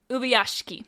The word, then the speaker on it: Ubuyashiki: Ubuyashiki. Ubuyashiki. All right, so with that, it's Ubuyashiki.